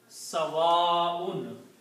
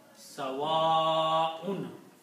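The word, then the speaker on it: سَوَاءٌ: Also, one thing to notice is that in the tajweed, whenever there is a hamza, this hamza here, and if there is an alif, which is this one, before hamza, then we always recite this alif a long way and call long mad.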